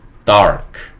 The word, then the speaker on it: dark: 그리고 한국 사람들이 이 dark를 발음할 때 이 R 소리를 좀 빼고 발음을 많이 하죠. 그래서 우리가 이거를 dark라고 적기도 합니다. dark.